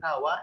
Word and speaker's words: kawa: Kalau misalnya orang Banjar menyebut kawa, itu kawa. Tapi kalau orang di luar Banjar ada yang kawa, pakai ada k di ujungnya.